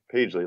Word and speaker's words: Pagely: Pagely is just Pagely, like page, like a page of paper, I guess.